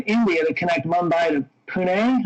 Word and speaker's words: Pune: And Virgin actually has some deals going on right now, including one in India to connect Mumbai to Pune, I believe that's how it's pronounced.